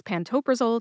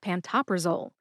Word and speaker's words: pantoprazole: It is pantopraole, not pantoprizole.